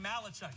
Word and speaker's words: Malachuk: own 26 uh Logan malachuk emphasis last name last syllable he Chucks it down